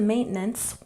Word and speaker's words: maintenance: And maintenance, we stress the first syllable.